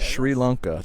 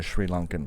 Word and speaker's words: Sri Lanka: pronounce it back home there's no h in the English spelling but it is Sri Lanka okay well I will